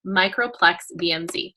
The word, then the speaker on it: Microplex VMz: from doTERRA, and the first one is the Microplex VMZ.